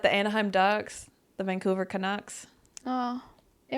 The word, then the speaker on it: Canucks: Canadians, not Canucks as in Ducks. I didn't even think about that. The Anaheim Ducks, the Vancouver Canucks.